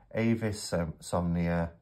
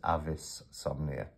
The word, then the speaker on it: Avisomnia: my offer to review Avis some near sorry Avis avisomnia my uh pronunciation of things the Latin is Avis somnia Tarot deck and I'm